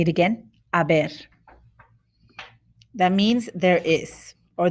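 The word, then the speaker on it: haber: ignoring that h because the h doesn't have any sound in spanish just ignore it say it again aber that means there is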